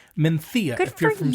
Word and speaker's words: Mencía: And it's pronounced Mencía. It looks like Mencía, but it's pronounced Mencía.